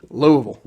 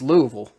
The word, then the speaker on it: Louisville: not even louisville it's louisville look love louisville like you you got to say it like it's like it's one syllable louisville does muhammad ali